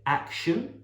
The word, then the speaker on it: action: it's a stressed syllable if the word begins with a and the stress is on the first syllable use the sound action